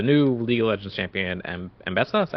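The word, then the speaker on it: Ambessa: Apparently, which is with the new League of Legends champion, Mbessa.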